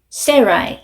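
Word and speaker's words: Sarai: 에이브럼, 세라이 이렇게 발음을 합니다.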